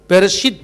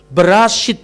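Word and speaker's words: בראשית: Bukan Bereshit bara Elohim tapi Berashit bara Aluwim.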